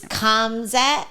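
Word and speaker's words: Khamzat: I always want to say it's Kamzat, I think is how you say the first name.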